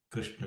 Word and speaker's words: Krishna: We should always try to say the pronunciation Hare Krishna, Krishna Krishna, not Krishna Krishna, and Hare Rama Rama. That's a Western style of pronunciation. Try to improve your pronunciation by pronouncing it the way it should be done in Sanskrit.